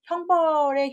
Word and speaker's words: 桁: 도리라고 할땐 형이라고 하고 착고를 할때 항이라고 하는데 많이 쓰는 단어는 아니에요. 근데 이를 건축 용어나 형벌의 형틀 용어이기 때문에 좀만 설명을 할게요.